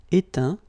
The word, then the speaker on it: éteint: Éteindre, éteint. Feindre, feint. Peindre, peint. Teindre, teint. Okay, as usual, final T not pronounced. Atteint, éteint.